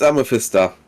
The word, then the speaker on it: Amethysta: It's Amethysta. Amethysta. Gotcha. But welcome. Like the jewel with an A behind that.